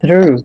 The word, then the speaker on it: through: It's a little bit difficult for me to pronounce like TH, but we're gonna try. Through. Yes, you did a good job. Through. If that helps you, like you can roll the R like the Spanish R, you can say through.